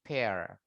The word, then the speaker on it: pear: Bacanya bukan peer ya, tapi pear.